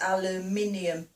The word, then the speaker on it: aluminium: So we spell it A-L-U-M and then there's another I, N-U-M, so it's aluminium, not aluminum to us.